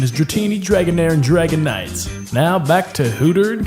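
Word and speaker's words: Dragonite: as most of you already know the proper pronunciation is dratini dragon air and Dragon Knights now back to who turned canes you're welcome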